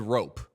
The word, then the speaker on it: Roope: Then people started saying Rope, and then a video came out of him saying his own name. Roope Hintz. He just straight up said Rope was his name.